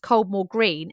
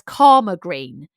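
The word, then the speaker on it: Caldmore Green: it karma green and a local person would call it karma green whereas an outsider would call it cold more green so this suggested that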